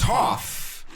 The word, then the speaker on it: Toph: Stunned mispronunciation, disbelief aside. Which one is it? Is it Toph or Toph? It's Toph.